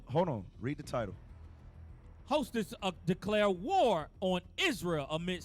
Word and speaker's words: Houthis: Houthis.